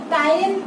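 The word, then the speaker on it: ptyalin: इसी को दूसरा नाम बोलते हैं टाइलिन, ठीक है, टाइलिन, पी साइलेंट है यहाँ पे, तो इसका दूसरा नाम टाइलिन है।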